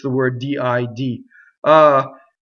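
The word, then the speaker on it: sento: Sɛnto, Sɛnto, open, E. Now look at what happens to the N going into the T. Sɛnto.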